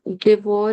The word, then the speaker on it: devoirs: finissons nos devoirs le soir. Nos devoirs le soir. O-I, it pronounced wa.